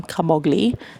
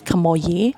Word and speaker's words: Camogli: Our choices were Genoa, Sori, Camogli, which I was pronouncing the entire time Camogli, but it's Camogli.